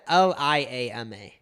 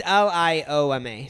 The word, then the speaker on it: lioma: And then after like the, I think it was just Lioma, right? Yeah, so you got it right, but I'm pretty sure the first time you said Liama. But yeah, you got it right. It's Lioma.